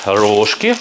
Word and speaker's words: рожки: Также вот такие рожки. У нас их называют рожки пшеничные. А где-то у меня знакомый приезжал из города Киров. Ударение на рожки. Последнее на и ударение.